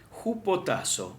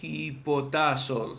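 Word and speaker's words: ὑποτάσσω: en Efesios 5 es jupotazo o hipotazos Depende como lo pronuncies porque la u se pronuncia como un estilo más como una u francesa o alemana no es una forma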